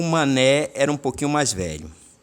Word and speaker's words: Manet: A gente costuma chamar aqui no Brasil de Manet, mas a pronúncia em francês é Manet.